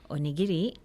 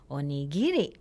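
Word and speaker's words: おにぎり: a good one and in standard Japanese the accent is on the knee but in the cancer vein the accent is on the geek so instead of Japanese you'd say onigiri while in the cancer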